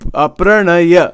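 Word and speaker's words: praṇaya: So It's pranay. Pranay, right? I'm not saying it right. Yes. Yeah. Pranaya. Yes. Pranaya. That's exactly correct.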